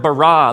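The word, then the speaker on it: ברא: now the word for create is the word bara let me hear you say bara it's this forceful energetic word of making things out of nothing in the beginning Elohim barad the heavens and the earth now the earth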